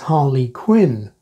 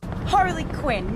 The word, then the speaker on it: Harley Quinn: one's a bit unusual because it's a pun a play on words as a full name it's Harley Quinn but the name is deliberately like the single word Harlequin which is stressed at the beginning and some people do stress it this way the Joker